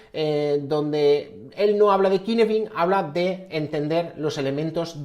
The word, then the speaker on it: Cynefin: Cynefin, que se escribe Cynefin, pero es una palabra galesa, porque su autor, David Snowden, es galés, y esa es la pronunciación.